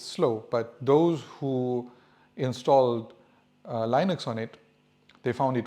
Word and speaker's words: Linux: And yes, it's pronounced Linux, not Linux. And that's according to the creator of Linux, right?